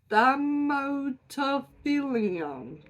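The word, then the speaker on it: Thaumatophyllum: now has been reclassified to its own genus, Thamotophilium. Don't know how to say it. It is Thaumatophylum.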